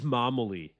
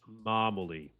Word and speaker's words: Mamoletti: So, it is Mamoletti. Pretend you are Super Mario when you say it. Mamoletti.